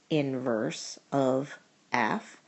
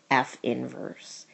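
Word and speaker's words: f⁻¹: our representation for inverse it is pronounced inverse of f or F inverse it is not pronounced F to the ne first Power because it is not an exponent it is just a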